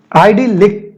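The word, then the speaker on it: idyllic: आइडिलिक, ठीक है, देखो प्रोनाउंसिएशन, आइडिलिक। यहां पे मैं थोड़ा आई, क्या आप इमेज देखकर खुश हो गए? सीख लो पहले, देखो आई प्लस दिल प्लस इक, इसको मैं बनाया, आई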